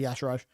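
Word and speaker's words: Y'Shaarj: Is it Yesharj? It's Yasharaj, I believe. Yesharaj, okay. It's definitely a charge, but it's literally Yasharaj. Oh, do you mean like it's spelt to be Yesharj, even though it... Yeah, I mean, Okay. I read it as Yasharj, and I'm right all the time, but Blizzard say Yasharaj.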